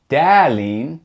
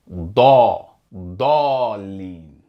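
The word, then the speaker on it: الضالين: And notice how in Sura al-Fatiha, that heavy D sound along with the fatah, it's not pronounced as da. You don't hear da leen. It's pronounced like da da leen.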